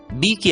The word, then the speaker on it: BAKE: तो ए, और इसलिए BAKE का उच्चारण होगा बी की आवाज ब, ए का नाम ए, के की आवाज क और ई को भूल जाना है, इसलिए उच्चारण होगा बे क, बेक।